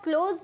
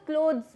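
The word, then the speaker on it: clothes: अब ना क्लोथ्स को क्या बोलेंगे अपन, या तो आप क्लोज बोलो या तो क्लोथ्स बोलो, त नहीं आता उसमें।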